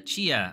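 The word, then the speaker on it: Tchia: feel about Destiny uh Chia which apparently is how this game is pronounced um so Chia is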